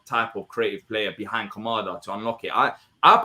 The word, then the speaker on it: Kamada: kamada or Kam how do you say it kamada all right so if use kamada and saw